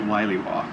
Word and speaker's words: williwaw: I think you're actually supposed to pronounce it Williwaw, but it's actually like a little sea navigation term for a violent squall.